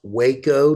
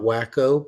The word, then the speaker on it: Waco: case you were wondering it is pronounced Waco not wacko but that has not